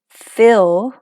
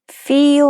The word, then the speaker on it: fill: Fill, 채우다. 발음은 fill. feel 아니고 fill.